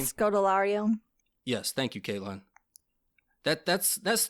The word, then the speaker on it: Scodelario: You have Kea, I'm not even going to try to pronounce her last name. Scodelario.